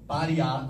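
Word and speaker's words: Pariah: Pariá, acaba com H, se escreve como se fala, e é da Dee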